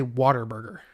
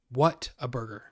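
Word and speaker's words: Whataburger: But I don't say Waterburger. I say, what a burger. Because that's how it's spelled.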